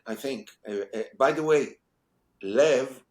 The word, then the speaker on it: Lev: Yeah, I think I think by the way, Lev, which is how you actually pronounce pronounce my family name in Israel, Lev in Hebrew means love, means heart, right?